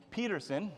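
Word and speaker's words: Pederson: Um I'm also introducing Peterson, spelled with a D but it's pronounced with a T.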